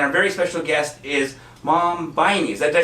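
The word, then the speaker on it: Maame Biney: I am your host, Yoshi Shiraki, and our very special guest is Mom Viney. Did I say it right? Mame Viney.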